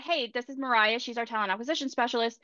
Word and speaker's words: Moriah: bear in mind that my name Mariah is spelled differently than Mariah carries even though it's pronounced the same and so I get a lot of mispronunciations I get some Moira Maria different things but